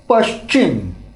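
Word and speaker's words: पश्चिम: So in the many part of the India where the pronunciation of the people is not very clear, they may pronounce it as a Pachim. Pachim or Pachim. Yeah. Pachim or Pachim. But generally Paschim is a perfect word. Yeah, that's a correct pronunciation.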